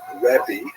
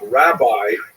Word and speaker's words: rabbi: The term rabbi with that pronunciation, it's actually kind of nonsensical. We don't actually have that word pronounced that way in Hebrew, but that's the way it came through.